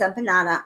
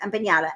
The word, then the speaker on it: empanada: I know it's empanada. I know it's a joke. Empata. Empanada. Empata. Empanada. Empanada is the right way to say it, but empatta is the way that Veronica likes.